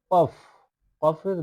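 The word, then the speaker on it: قاف: ওয়া জয়া আইন াইন ফা এবার যে নিচে যে হরফটি দেখতে পাচ্ছেন এটা হচ্ছে কি কফ কফের দুই নক্তা কফের উপরে দুই নক্তা কফ কফ একটু কলকলা ভাবে উচ্চারণ করবেন যাতে একটু শব্দ হয় কফ কফ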